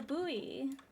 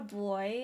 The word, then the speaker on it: buoy: Personally, perfectly rhyme it with fooey. Buoy fooey. Yeah, it's a buoy. It's not a boy, it's a buoy.